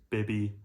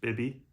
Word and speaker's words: Bibbi: wallpaper by the house bbby perams I think that's how it's pronounced BBY that's what I'm going to go with for this video um I came